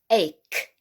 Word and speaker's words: ache: of course and uh they the ch will sound like a k or just a c on its own all right ache ache so if you've got an